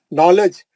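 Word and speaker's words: knowledge: नॉलेज के से लिखा हुआ रहता, लेकिन के नहीं पढ़ते, क्यों, के साइलेंट रहता।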